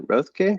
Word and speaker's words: Roethke: I'm here with John Roethke.